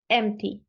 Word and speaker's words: empty: you say this right remember it's an e e and we spread our lips to the sides right e e we keep the song Sorry we keep the tongue the song what am I talking we keep the tong in the middle right not too high not too low right there in the middle but we spread our lips right so e e e empty good do me a